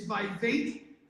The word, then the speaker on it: Vivek: and by the way it is by fake which Reigns uh rhymes with tape that's how you remember it's by Fate that rhymes with cake by vague ramaswamy so I've got